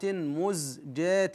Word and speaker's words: مزجات: قوله تعالى وجئنا ببضاعه مزجات هنا التقليل الاماله الصغرى في الالف مزجات فاوفي لنا الكي الواو